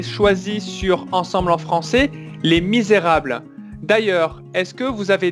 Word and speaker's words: Les Misérables: on va retravailler d'abord la prononciation qui est un peu difficile les misérables les misérables voilà bien prononcé le r misérable misérable très bien